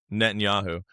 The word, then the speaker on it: Netanyahu: Netanyahu.